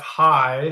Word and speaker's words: Heie: So, um, my name is, uh, Hi. Uh, it's a tough last name, Liz, so don't feel badly. Um, it's spelled H EI and uh it's a Norwegian name and so I have to blame my ancestors for that spelling.